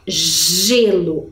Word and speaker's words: gelo: Em seguida, nós temos lá gelo. Olha como a pronúncia é diferente. Gelo, girafa. Lembra muito a letra J, não é? De jacaré, jipe, não é mesmo?